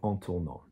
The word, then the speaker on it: en tournant: But ANT is an ing, and an ing in French is pronounced en. So in turning, en tournant.